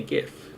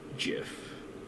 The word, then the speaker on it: GIF: gif all right like pronounce it with a hard g that man would die